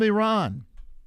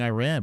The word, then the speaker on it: Iran: Saman from Iran. He's the guy that got me not saying Iran. I used to be saying Iran, but now I say Iran.